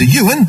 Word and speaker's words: Iwan: Ocean Jones, the number 5 rider, Dan, the elder brother, and Ewan, and don't be confused over the spelling of that, because it's I-W-A-N, Iwan, but it is pronounced as Ewan, the youngest rider, the 12-year-old.